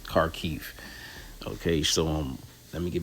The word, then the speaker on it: Kharkiv: I've been saying Kharkiv, but the actual pronunciation is Kharkiv.